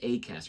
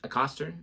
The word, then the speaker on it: Acaster: too how they say it's not James a cter it's James a Coster I don't know and